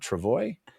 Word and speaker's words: travois: And this whole sequence is so rad where he's like, yeah, I've been pulling you on the how do you pronounce that word? Travois?